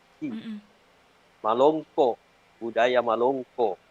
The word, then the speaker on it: Malongko: Jadi untuk kata Malongko, ada bunyi glotal di akhir kata. Ya. Malongko. Budaya Malongko. Malongko.